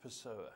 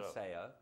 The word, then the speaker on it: Pessoa: pronounced Pessoa. Pessoa, yeah, Yeah, not so- Paseo.